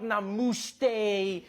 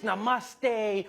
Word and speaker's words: namaste: People were coming on like, dude, it's not namaste, it's namaste. Who messes up namaste? It says namaste.